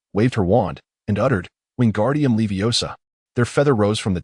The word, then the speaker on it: Wingardium Leviosa: Wingardium Leviosa, he shouted, flailing his arms like a windmill. You've got it wrong, Hermione interjected bluntly. Its wingardium leviosa. The gar must be pronounced long and clearly.